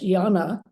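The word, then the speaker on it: jñāna: So the antecedent of this is the Sanskrit, which is pronounced yana.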